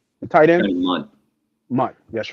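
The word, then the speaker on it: Mundt: And then Jonathan Jones, Mutt was it Mute or Mutt? Mutt, I forget how you say his name. Johnny, the tight end. Any month. Mutt, that's right.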